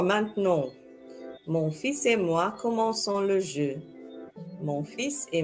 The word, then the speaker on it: commençons: And this happens to maintain that hissing sound of the letter C.